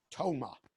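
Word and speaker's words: TOMA: so ago correct me this is an acronym because you can say it as a word or an expression tome op because I it pronounces a word when it stands for something which is top of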